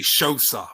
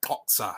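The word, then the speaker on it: Xhosa: um x h oosa I used to say sha before because uh that's how I pronounced it but someone told me it's actuallya like COA like that something like that right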